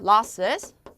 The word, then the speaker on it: losses: 손실, 피해라는 뜻인데 발음은 low가 아니고 law. 평순 모음으로 입을 벌려서 발음해 주시면 됩니다. losses.